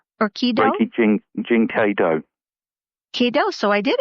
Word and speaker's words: Reiki Jin Kei Do: Well, what I'm really curious about is when you talk, and I certainly hope that I pronounced that correctly, it's Reiki Jin Kei Do or Kido. Reiki Jin Kei Do.